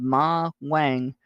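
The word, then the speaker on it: Ma Huang: There's an herb, a Chinese herb called Ma Wang, that has ephedra, natural ephedra in it.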